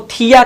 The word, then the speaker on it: thia: ये एस को हमने आपको बताया था कि एस को थिया कहा जाता है, THIA, थिया, या इसी को थाया भी कहा जाता है।